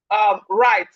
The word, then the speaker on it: right: We have right. Right. So the W in right is silent.